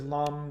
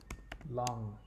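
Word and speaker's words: लं: You'll see it as lam, but it's actually pronounced lang.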